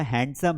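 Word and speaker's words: handsome: यहां पर देखो, है ना, अरे वो लड़का बड़ा हैंडसम है।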